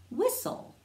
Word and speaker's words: whistle: Now WH sounds like W, like wah, and the H is silent.